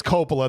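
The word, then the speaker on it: Coppola: I know it's Copala. That's driving me crazy. He keeps saying Kapa.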